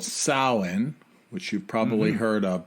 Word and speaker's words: Samhain: old uh Celtic custom that uh is called Salin which you've probably heard of before some people it's written as Sam Hayne but if there's any uh folks in Ireland